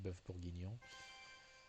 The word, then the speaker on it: bœuf bourguignon: Also, yeah, so it's pronounced in French. It's pronounced bœuf bourguignon, and I'm going to be real.